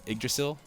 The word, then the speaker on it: Yggdrasil: Yggdrasil. That's how you pronounce that, isn't it?